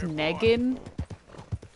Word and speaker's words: Negan: from the website but it's pronounced Negan with an n and like November at the beginning and of course my